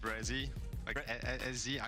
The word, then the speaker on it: Bre: name moving forward uh just bre I know it's hard like to pronounce because like it's half of my name it's just like say brei and not Bri but like I mean